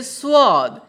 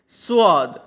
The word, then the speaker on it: स्वाद: এর হিন্দি হয় इसका, স্বাদ হিন্দি হবে स्वाद। হিন্দিতে বানানটা একই লেখা হয়, উচ্চারণটা একটু আলাদা হয়, ঠিক আছে। स्वाद।